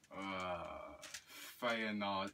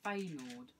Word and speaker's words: Feyenoord: Feyenoord FC.